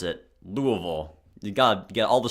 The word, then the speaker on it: Louisville: official but it's not so damn all right Louisville that's how you pronounce it louville you got get all the schwaz in there